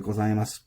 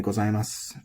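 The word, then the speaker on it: ございます: And same thing with the gozaimasu, copy it over here. It's normally gozaimasu. And if the u is pronounced, it's gozaimasu.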